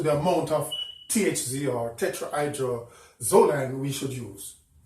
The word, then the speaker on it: tetrahydrozoline: Visine brand, which is chemically tetrahydrozoline. Some other people have some other pronunciation for it. I just pronounce it as the word. It's tetrahydro. Tetra means 4, hydro, water, and zoline.